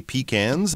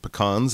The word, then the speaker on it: pecan: Some people might say pecans, but pecans is, I think, more the American pronunciation, especially in the south.